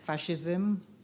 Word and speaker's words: fascism: We do not consider fascism as an acceptable form of government. Could you repeat the word, please? Fascism can also be pronounced fascism.